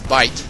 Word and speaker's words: Bait: It's Bite. Excuse me. Bait in game, but Bite is how it's pronounced.